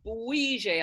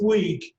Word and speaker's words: Bouygues: And Nick Austin and Sean from Boise. I hope I've pronounced that correctly. No, you didn't pronounce it properly. It's Bouygues. Bouygues.